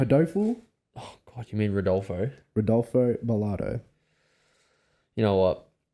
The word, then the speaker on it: Rodolfo: Hodoful. You got Wait, You got I did Bilardo? not say his name right. You did Hodoful. not. I'm picking You mean- Hodoful, Oh God, you mean Rodolfo?